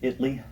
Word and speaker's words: Italy: They're in, they pronounce it Italy, Texas. It looks like Italy to me, but they call it Italy.